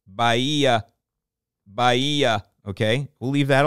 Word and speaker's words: Bahia: so this is how Wikipedia says you should pronounce bahaya okay well I don't that sounds like baiah okay I'm gonna get some Bahia grass hey